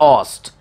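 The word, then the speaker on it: oust: फिर चलते हैं अगला वर्ड के लिए, ओ यू एस टी, इसे पढ़ते हैं ऑस्ट.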